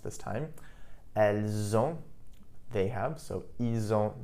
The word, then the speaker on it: elles ont: You'll also notice that when I pronounced it, ils ont, elles ont, the S in il, elle, which is normally silent, was actually pronounced, and I pronounced it like a Z.